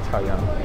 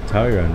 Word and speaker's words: Taoyuan: Taoyuan HSR station. How was my pronunciation? Taoyuan. Bang on. Taoyuan, right?